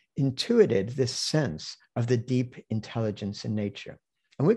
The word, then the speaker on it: Te: basically as quite literally the classic of Tao and De, as it's pronounced.